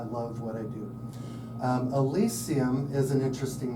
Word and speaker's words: Elysium: Elisian Alisium. Alisium.